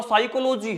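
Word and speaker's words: psychology: स ये तो प साइकोलॉजी है नहीं पी के बाद अगर एन आ जाए या एस आ जाए तो पी हमेशा क्या हो जाता है साइलेंट तो ये स्पेलिंग किसकी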